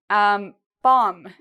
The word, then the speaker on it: bomb: If you have an M, you do not pronounce the B. So we don't say bomb. No, we say bomb.